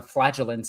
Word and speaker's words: flagellant: Wait, how do you pronounce it? Flagellant is how I pronounce it.